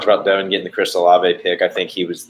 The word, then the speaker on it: Olave: I can say Olave, by the way. For those listening, I just don't like to because the first time I saw that, there was no way I was going to pronounce that Olave.